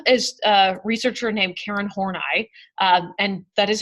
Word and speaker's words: Horney: One of them is a researcher named Karen Horney, and that is how you pronounce her name.